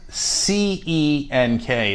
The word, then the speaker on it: Cenk: So C-E-N-K is pronounced Cenk. Cenk. Yeah, the C is pronounced like a J, like short for Jenkins.